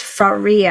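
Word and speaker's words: Sakhira: said to me like I would say it rhymes with Maria but it's Faria and it's just so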